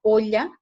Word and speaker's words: olla: Correctamente, lo que se debe pronunciar, y también de acuerdo al vocabulario de la lengua española, es la L, que es con doble L, que se escribe con doble L, por ejemplo, para olla. Entonces, olla, ¿cómo así, verdad? Olla, no se pronuncia como yogurt, por ejemplo.